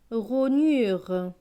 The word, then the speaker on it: rognure: R et O, ro. GN, GN c'est gne. Avec le U, cela donne nu. R et E, re. Donc ce mot va se lire ro, nu, re, rognure. De la rognure.